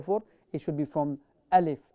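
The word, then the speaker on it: ألف: Okay, how do we pronounce the letter Alif? It is Hamza, so it is pronounced from the bottom of your throat, and you will say A or you will say Alif. Alif.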